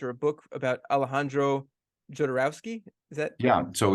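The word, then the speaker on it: Jodorowsky: a book about Alejandro jodorowski is that yeah so it's it's pronounced holdorovski um or sometimes he's known as Hodo uh uh for short uh the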